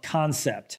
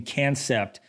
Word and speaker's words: Kansept: This is the Loki from Kansept. I think I've been pronouncing their name Kansept for my last couple videos, but I believe it's pronounced Kansept. I believe, so I apologize if I'm butchering the name, but I'm gonna call it the Kansept Loki.